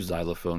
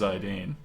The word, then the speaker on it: Zidane: oh yeah don't you xylophone me like that no it's pronounced Zidane wow wow come on